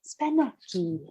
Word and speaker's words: Spanaki: Google tells me Spanaki. You got to pronounce it with the right finesse. Spanaki.